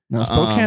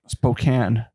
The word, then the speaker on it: Spokane: Hill he dies on he's always correcting no spoke Spokane and they're like I